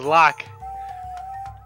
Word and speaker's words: Locke: It's actually pronounced Locke. I don't know why. It's old habit from when I was used to play it when I first played the game. I called him Loke, but it's actually just Locke.